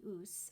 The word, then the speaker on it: Ouse: This book also ties in with my Virginia Woolf curiosities because it is the story of the Ouse, I believe that's how you say it, O-U-S-E River in Sussex, in which Virginia Woolf drowned in 1941.